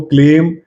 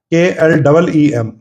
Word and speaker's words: क्लीम: सीमा शर्मा ने लिख दिया है, ओम क्लीम कृष्णाय नमः। कृष्णाय, वाई पड़ेगा पीछे, क्लिम नहीं होता, KLEEM। ये सारा खेल है। क्लिम कुछ और चला जाएगा, वो बीज मंत्र हो जाएगा, दूसरा तंत्र क्रिया का।